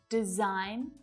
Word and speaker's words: design: It's that G. Sign, might, design, foreign, and daughter. So what patterns can we see here? We can see that the G is often silent when it's before an N.